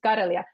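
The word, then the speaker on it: Karelia: is this my middle name is kelia we pronounce it Kia so they set up this North kelia project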